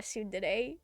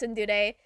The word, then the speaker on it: tsundere: You're not tsundere.